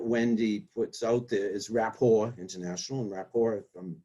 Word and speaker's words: rapport: yeah building rapport yeah it's not rapport by the way it's rapport a french word um that's spelled r a p p t so that's why you were joking about it because it is a t but it's a silent t for the french word right so your